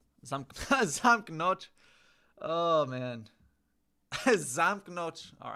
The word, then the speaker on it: zamknąć: So you say zamknąć or zamknąć. Zamknąć.